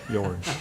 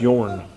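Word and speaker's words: Björn: One, the original piece you showed us, did it allow, all right, tell me how to say it. Bjorn. Bjorn. That's Yorn. Bjorn.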